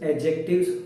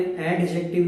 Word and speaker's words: adjective: Actually English कहती है articles एडजेक्टिव्स होते हैं. यस, ध्यान से सुनना, मैंने एडजेक्टिव नहीं बोला, मैंने बोला है एडजेक्टिव. वहां पे डी साइलेंट है.